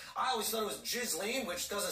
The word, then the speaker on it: Ghislaine: Gillian Maxwell the accomplice of violence suicide victims pronounce her stupid name I was done with jizz Li which doesn't sound like a British socialite it